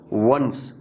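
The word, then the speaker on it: once: वंस, यहाँ rounded lips के साथ प्रोनाउंस करना है।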